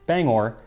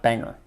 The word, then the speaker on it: Bangor: the form of song explaining that it is pronounced Bangor, not Bangor.